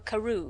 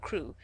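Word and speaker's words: Crewe: difference in the name madame pascal pronounced it as if it were karoo instead of crew but that might be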